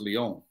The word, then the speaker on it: Lyon: dies he died in lyon so yeah i bet you didn't know it's pronounced leon no no no no